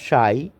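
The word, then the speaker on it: psi: সাই পি এস আই পি এর উচ্চারণ হবে না সাই অনেকটা ত্রিশুরের মত ফাই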